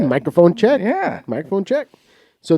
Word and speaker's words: Mikerphone: microphone check 1.2 okay so it's spelled m i k e it's not like the m-i-c-r-o yeah maybe the owner's